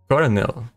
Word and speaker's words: colonel: easy try with Coronel this one surprise me a lot but apparently it's because and I read a little bit and it was because originally in the original I don't know first time that these were written in English I guess it has an R but then suddenly what happened with like French people or something and they changed the word the print the spelling with an L so it's confusing because